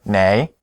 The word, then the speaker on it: 哪: In the last lesson, you learned the word "nei" in the low tone, which means which.